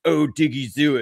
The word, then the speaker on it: Odighizuwa: And I got hit with like 50 comments from Cowboys fans of like, it's Odighizuwa.